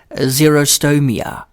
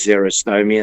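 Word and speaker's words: xerostomia: Zero meaning dry like X X E R O like a Xerox machine.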